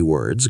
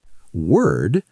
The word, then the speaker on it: word: It's the sound, like in her.